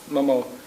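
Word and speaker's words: Mameaux: Everyone called her either Aunt Ida, Miss Ida, you know, Sister Bell, but we all called her Momo, and that's spelled M-A-M-E-A-U-X, Momo.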